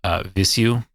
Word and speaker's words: Vheissu: It's never been pronounced in real life until they decided to like talk about it. Okay. So like that's the way that they pronounce it.